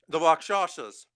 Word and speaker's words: Rakshasa: It's the Rakshasas. Nice, you said it right. Shasa. Yeah. A lot of people have trouble saying it because they expect to say Rakshasa or something, but Rakshasa.